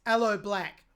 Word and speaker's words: Aloe Blacc: It's from Avicii's debut album titled True that was released in 2013 and featured, I'm not sure how to pronounce this, I think it's Aloe Black on vocals, or Aloe Black.